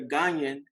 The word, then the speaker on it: Ghanaian: say you're Ghanaian, did I pronounce that correctly?